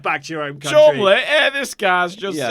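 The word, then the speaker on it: Cholmondeley: but it's Call pronounced it Chumley. yeah, Chumley.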